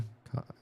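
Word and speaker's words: Ko-fi: Patreon, the co coffee coffee I always want to call it Kofi because the way it's spelled, but coffee Patreon uh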